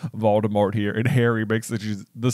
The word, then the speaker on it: Voldemort: point in the audiobook, Jim Dale is pronouncing Voldemort in that way where it's a silent T at the end, Voldemort.